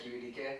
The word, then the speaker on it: QEDK: I say it like QEDK. Some people call me just.